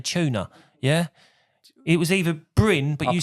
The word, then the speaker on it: Bryn: You pronounce the name because I'm going to pronounce it wrong. Bryn.